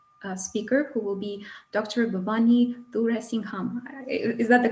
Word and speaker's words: Bhavani Thuraisingham: Bhavani Thuraisingham. Is that the correct pronunciation?